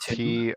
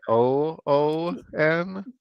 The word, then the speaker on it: Tune: Is that Tune. TOON? It's T- TUNE. TUNE. Like a tune.